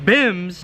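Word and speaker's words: BYMBS: cody here hosting the b y m b s pronounced bims blow your mind bible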